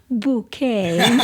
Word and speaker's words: Bucket: And her her last name is called uh it's spelled bucket, but she likes to spell it different with bouquet.